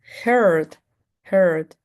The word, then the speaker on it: heard: Hong Kong have head here heard maybe we see a e a together and I'm going to pronounce like e but actually this is going to change this is here can you hear me and you can say heard I heard something yesterday